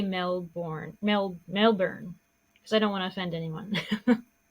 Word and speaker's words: Melbourne: This case happens in Melbourne, Australia, or Melbourne, Australia. Is that how you say it? Melbourne. I know when they say it, it's completely Either different. It's like Melbourne.